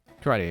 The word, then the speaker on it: karate: But no, it is karate, because it's a Japanese word, and there's only one way to pronounce each vowel. Ka-ra-te. E is always eh, so yeah.